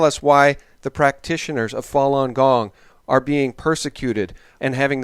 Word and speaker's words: Falun Gong: spiritual discipline in the Buddhist tradition and it's pronounced Falun Gong also known as Falun Dafa it consists of